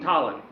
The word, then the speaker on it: Tollin: Jonathan Tollin. Oh, hold on, I have a note here. Don't forget, it's a long O sound, not a short ah sound. Jonathon Tollin.